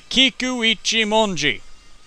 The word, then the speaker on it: Kikuichimonji: I finally pronounced it right. Finally. It's the Kikuichimonji.